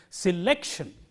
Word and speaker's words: selection: itself ends in tion the rule is if a word ends in T I o n the syllable immediately coming before shin is stressed that is the rule so in this word the syllable immediately coming before shin is like so like he stressed so we say selection and this rule is